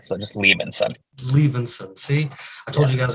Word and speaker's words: Liebensohn: sun it's leaving said the H is silent so just leave inside leaving soon see I told you